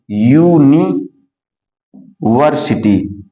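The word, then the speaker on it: university: है, वावेल आया है, लेकिन जब इसका उच्चारण किया जाता है तो इसको क्या लिखते हैं? यूनिवर्सिटी। तो यहां या से यज्ञ आ गया, और या से यज्ञ आपका हिंदी का क्या होता है?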